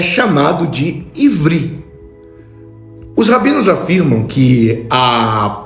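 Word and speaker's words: עברי: A palavra hebraica usada na Torá pronuncia-se ivri, que significa de ou pertencente à palavra sempre.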